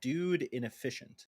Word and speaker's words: Dude Inefficient: You pronounced my name wrong. We already established it's Dude Inefficient.